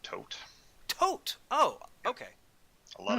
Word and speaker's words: Thoth: magic by yes I'm going to be identically pronounced tote tote oh okay a lot of people pronounce that Toth because they think the th sound is is